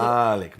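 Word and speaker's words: مالك: Malik, Yes. a long A with a dagger Aleph that's added at later Yeah. later on. And that So- dagger Aleph makes it owner.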